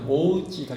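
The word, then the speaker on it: 大内: 일본식 발음으로는 이제 오우찌가 되는데 오우찌 목장이라 이 말인데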